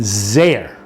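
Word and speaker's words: זֵר: So it says the lashon zer. Okay, and that's how we pronounce it. But if there had been no vowels, you would have said zar.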